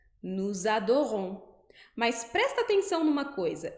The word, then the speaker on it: nous adorons: Nous, adorons. Mas quando eu coloco essas duas palavras juntas, vai aparecer um som de Z. Z. Então, eu vou pronunciar nous adorons. Nous adorons.